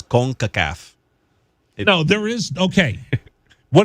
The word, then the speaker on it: CONCACAF: heard somebody else say it no it's it's concacaf okay you say that with authority but we